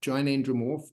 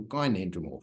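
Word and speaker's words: gynandromorph: that before um and it's what's known as a bilateral gin andromorph or a bilateral gy andromorph you can have a hard G or a soft G whatever you like um it's called bilateral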